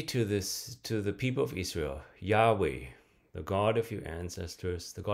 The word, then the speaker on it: Yahweh: So in verse 15 of Exodus, God then says, say to the people of Israel, Yahweh, the God of your ancestors, the God of